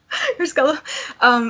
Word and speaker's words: Carrasco: Carrasco.